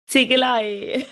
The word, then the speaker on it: Ziegelei: Ziegelei Academy.